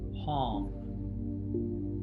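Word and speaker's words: Hong: mentally think the word palm h-o-n-g like a gong that rhymes with gong and as the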